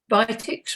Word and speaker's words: Vitex: And Vitex root, think the tex part here because tex rhymes with sex, and it's really important for helping regulate normal function, physiological function in that regard as well.